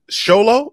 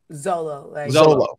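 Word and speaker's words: Xolo: about that because uh how do you say his name is it Show Low or solo Zolo yeah what is he thank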